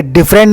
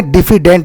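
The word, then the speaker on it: diffident: पहला है डिफिडेंट, ये डिफरेंट नहीं है, डिफिडेंट है, स्पेलिंग देखिए।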